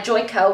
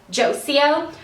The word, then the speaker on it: Joico: this one is by joy KO which I love how in my first ever everyday hair routine video I totally pronounced this brand josie o shows how far I've